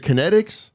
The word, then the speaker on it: KNETX: we're about a year old so is it kinetics yeah okay good because I didn't know how to pronounce this and I'm I was like watching